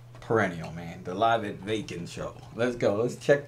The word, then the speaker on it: Wacken: was made very clear to me it was pronounced vacant let in German it was made very clear